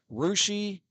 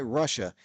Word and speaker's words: Russia: sales and B Fountain Russ is course supposed to be Russia did they intentionally mispronounce that during the Cold War or something sure no they why didn't they just rename the city in spad this dumb rushi yeah Nigel if you're not in this area like Nigel says here try Russia it's not Russia oh how they pronounce it rousi and we assume it